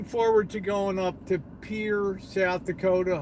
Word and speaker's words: Pierre: to going up to Pierre South Dakota I know I said it right most people call Pierre Pierre South Dakota I would of course